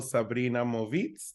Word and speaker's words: Sabrina Movitz: We have the wonderful Sabrina Movitz. Did I pronounce that correctly?